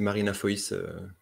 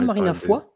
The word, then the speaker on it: Foïs: C'est Marina Foïs. Ah, on dit pas Marina Foy? Non. Non, parce que je crois qu'il y a des trémas sur le i.